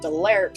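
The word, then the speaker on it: Danlerte: And then Delert has some silent letters in it. It's D-A-N, the N is silent, L-E-R-T-E, I think.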